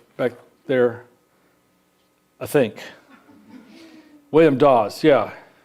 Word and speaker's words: Dawes: there i think william dawes yeah how do you spell that again not dos that's d-o-s-s this is d-a-w-e-s dawes so let's examine the